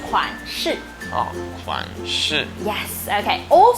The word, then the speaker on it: 款式: 新 Oh, that's a good try. 新衣 means new clothes. Actually, we say 款式.